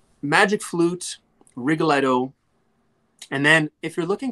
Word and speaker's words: Rigoletto: Another opera that kind of falls under that category is Rigoletto, or if I say it with the American pronunciation, Rigoletto.